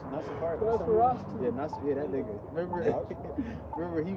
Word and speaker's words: Nosferatu: Nasafaris? Nosferatu.